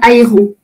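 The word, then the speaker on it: Hairon: C'était quand j'étais en prison, en fait, j'ai reçu un document officiel de la Chambre de l'instruction, dont la présidente est Madame Ayron.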